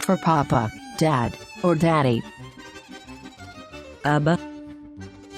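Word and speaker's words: אבא: or daddy abba abba in the word abba we pronounce the first all f as a short dot then the letter bet is pronounced as ba because the nickeled sign below it is for a long off the last all f is silent but when the vowel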